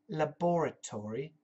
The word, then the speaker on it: laboratory: The spelling, L-A-B-O-R-A-T-O-R-Y. Okay? The British say laboratory. Laboratory. The Yankees, Americans say laboratory.